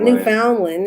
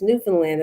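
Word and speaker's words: Newfoundland: spelled differently actually yeah it's spelled new found land but you don't pronounce it that way I'm getting tired actually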